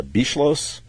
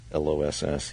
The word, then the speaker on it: Beschloss: Anyway, their historian, I can't pronounce his name. It's Beschloss. It's Beschloss.